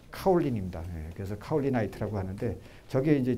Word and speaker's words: 카올린: 근데 고령을 이제 그 중국식 발음으로 하면 카올린입니다.